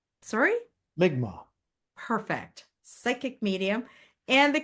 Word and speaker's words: Mi'kmaq: Migma, sorry, Migma.